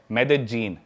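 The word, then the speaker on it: Medellín: उसकी एक सिटी है मेदजीन। स्पेलिंग में उसमें डबल एल आते हैं। मेदलीन होता है। लेकिन कोलंबियन स्पेनिश में ल को ज बोलते हैं।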